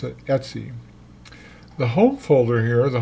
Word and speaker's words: etc: be aware of and it's called Etsy we pronounce it Etsy the home folder here the home directory contains